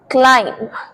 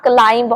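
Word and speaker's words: climb: एंड वैसे क्लाइंब चढ़ना बट इसे क्लाइंब नहीं बोलते क्लाइम B lateral silent next most common मिसप्रोनाउंस्ड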